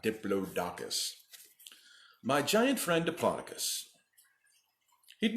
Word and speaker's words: Diplodocus: story today the Diplodocus make sure you pronounce it Diplodocus and not Diplodocus my giant friend Diplodocus